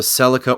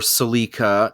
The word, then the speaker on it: Celica: uh you know the the Celica or silica and both I've learned both pronunciations are actually correct uh drifting is a